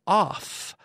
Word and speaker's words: off: now be careful with off off two F's off the F sound off when we have